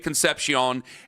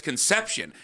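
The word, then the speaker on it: Concepcion: because I had I I was saying it like Dave Conpion and then plenty of people going, "No, Ken, it's Conception."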